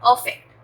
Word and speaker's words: affect: अफेक्ट, अफेक्ट, अ का sound बिल्कुल एज इट इज आएगा। अफेक्ट, अफेक्ट होता है चेंज और मेक अ डिफरेंस टू।